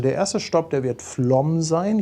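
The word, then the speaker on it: Flåm: Also der erste Stopp, der wird Flom sein. Ich habe ja gelernt, das spricht man Flom aus, das A mit diesem Kringel da drüber.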